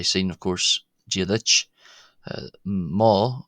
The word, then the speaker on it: mo: Um you've already seen of course jich uh ma not mo but ma pronounced another short o is uh the gillic